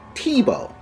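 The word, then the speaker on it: Thibault: jerk but he does a French name that doesn't spell exactly how it's pronounced and it's pronounced Tebow so Tebow is a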